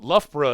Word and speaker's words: Loughborough: it's it's not natural, but Loughborough is even tougher for people to pronounce. They try to put the borough on the end of it, and yeah, red Leicester cheese is a real treat.